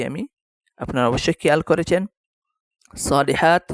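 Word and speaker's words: صالحات: আপনারা অবশ্যই খেয়াল করেছেন সলিহাত এই জায়গায় যদি গোল তা হতো থামতে হলে সলিহা হা উচ্চারণ করে থামতে হতো যেহেতু গুলতা আসে নাই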